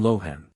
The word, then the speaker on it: Lohan: called boat and lahan or as these characters are now pronounced by the Chinese Pusa and Lohan the chief minister of